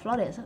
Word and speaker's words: flautist: Nhưng mà đối với mình á hả, theo mình cảm quan hồi mình sẽ đọc là flautist. Tại vì thường thấy AU hay đọc O flautist cũng được.